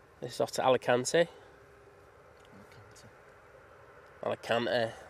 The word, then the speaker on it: Alicante: Alicante, that's how you say it here, mate.